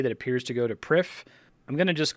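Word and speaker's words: Prifddinas: in a pathway that appears to go to PRI I'm going to just call it PRI I know it's pronounced privus but I think I hear every content creator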